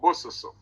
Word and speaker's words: Bososo: It's called Bososo.